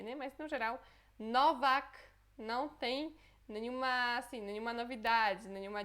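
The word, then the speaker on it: Nowak: O primeiro é Novak. Novak, ok? Este é fácil de pronunciar. Só em português a gente escreveria com V e com C, né? Mas no geral, Novak não tem nenhuma novidade, nenhuma dificuldade, né?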